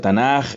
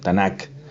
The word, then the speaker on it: Tanaj: Entonces, esto es Tanaj, el acrónimo, y bueno, en castellano a veces se pronuncia Tanaj y le han puesto, por decirles algo, esto, Tanakh.